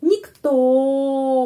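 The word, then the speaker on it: никто: Terus nyikto nikto penekanannya di sini pada huruf O. Karena itu huruf O tetap sound-nya O.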